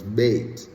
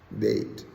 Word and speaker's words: Bet: It's spelled B-E-T, but it's Beit is the pronunciation, Beit.